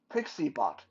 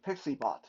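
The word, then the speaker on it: PiccyBot: are an iPhone user, it's called uh, PixieBot, and it's spelled Piccy bot, PixieBot.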